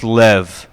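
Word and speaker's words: לב: passage in Deuteronomy heart this word is pronounced Lev all right it's very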